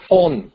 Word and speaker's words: von: Mà tiếng Mỹ nó Von the thì giống như chữ phone, đọc nó lẽ chữ V. Mà tiếng Đức á, thì nó đọc là phone, phone, giống như là chữ F vậy đó.